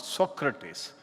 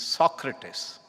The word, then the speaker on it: Socrates: Socrates written by Plato B wrong pronunciation it is not Socrates it is Socrates still remember and for